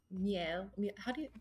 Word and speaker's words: miel: You know that melly or honey is the root for the French word miel. Who speaks French? Miel.